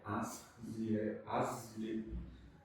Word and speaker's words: Asriel: Asriel. É o nome judeu, eu não sei como que é exatamente. É Asriel. Sem pronunciar, mas tem um Z. Como se fosse um Ariel com um Z.